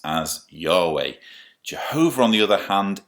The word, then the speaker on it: Yahweh: He was identified by the Tetragrammaton, four letters, which in English would be YHWH, which most scholars pronounce as Yahweh.